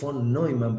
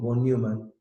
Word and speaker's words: von Neumann: Bueno, el ideólogo ya lo vimos un poco, se pronuncia von Neumann, probablemente lo más parecido, von Neumann. Nosotros en criollo decimos von Neumann, bueno, pero son, como